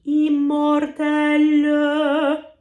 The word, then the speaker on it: immortel: But essentially, if we have a French word like immortel, in the spoken version, we might not actually speak that final syllable at all, but in sung French, it might be immortel.